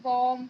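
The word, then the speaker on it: balm: तो कभी भी ऐसा तो नहीं है कि सभी जगह बी साइलेंट होगा, लेकिन कुछ ऐसी वर्ड मीनिंग है जहाँ पर बी साइलेंट होता है, जैसे कि बॉम, कॉम, टॉम, डाउट।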